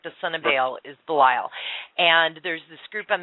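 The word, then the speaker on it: Belial: And this demon's name I will spell it. It's B E L I A L. It's Bile.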